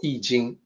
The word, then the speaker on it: I Ching: And please note, when I say I Ching, that is the way it is pronounced. It is also the way people are supposed to pronounce it using the Wade-Giles romanization system. It is not I Ching, it is not I Ching, it's I Ching.